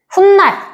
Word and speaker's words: 훗날: 자, 근데 발음할 때 어떻게 해요? 가요랑? 훗날. 니은으로 한다고. 훗날이야, 훗날. 그러니까 얘 발음할 때 뭐 하는 거야? 니은 소리가 덧난다. 이렇게 얘기할 수 있어.